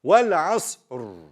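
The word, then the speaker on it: والعصر: Because of this, we have to pronounce the Ra thick. Wal asr. You see? Wal asr. You see? I read it thick.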